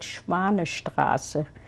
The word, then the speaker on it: Schwanestraße: I know the name of the street was called Schwanestraße. So the synagogue was called Schwanestraße Synagogue. Can you spell that, please?